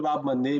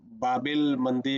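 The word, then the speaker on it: Bab-el-Mandeb: ठीक है, तो ये याद रखिएगा, बल बब एल मंदे बोलते हैं हम लोग जनरली इसको। ठीक है, ऐसे लिखते हैं, बब एल मंडे, मंडे, ये अच्छा है।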